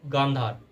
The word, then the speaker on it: गांधार: है जिसका नाम है गांधार। एक्चुअली इस टाइम पे उसको कांधार बोला जाता है because of miss pronunciation, but actually वो गांधार है जहाँ की गांधारी थी, जो कि कौरवों की माता थी महाभारत में।